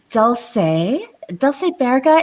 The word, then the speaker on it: Dulce Baerga: So joining me today is Dulce Baerga. Am I pronouncing that correct, Dulce?